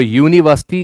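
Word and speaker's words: university: Dash यूनिवर्सिटी professor, तो यूनिवर्सिटी का pronunciation य ध्वनि से होता है, यह साउंड पहले मिलता है, इसलिए ए भरेंगे।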